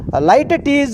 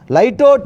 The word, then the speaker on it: litotes: figure of speech is light is one pronunciation, lightot is the one more pronunciation. Both are correct pronunciation, good pronunciation.